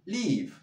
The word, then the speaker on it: leave: Agudo, leave, leave, leave, leave. Muy bien. Live, live, live. Muy bien. Agudo y la I como la E, más grave.